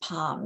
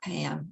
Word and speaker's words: Palm: they call me palm my family name is palm not pam that's how they pronounce it she once said pawn